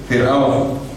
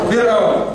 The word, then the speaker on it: Fir'aun: Fir'aun, bacanya Fir'aun. Ya. Bukan Firaun. Fir.